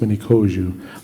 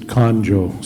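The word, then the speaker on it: Miniconjou: and I am the many koju it's uh pronounced many koju they they put an n in the in the spelling of mini koju and forever since then people pronounce it konjo so anyway comes from the word hawozu um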